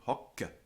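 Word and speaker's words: hoc: nominative hokka h-o-c-c-e um lost the trailing e resulting in hokka and the neuter spelled h-o-c without writing the Double C however um note that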